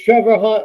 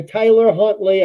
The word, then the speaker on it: Tyler Huntley: Oh, it's Trevor Hunt or Tyler Huntley. I couldn't even pronounce his name.